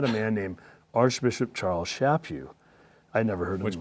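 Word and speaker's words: Chaput: man named archbishop charles shapi i never heard him which by the way is pronounced like slap you slap you shape you people don't get that people always like like shape you right okay go ahead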